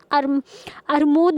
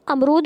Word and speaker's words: अमरूद: जैसे कि वो बच्चों को बताएं कि अरमूद नहीं होता बल्कि वो अमरूद होता है।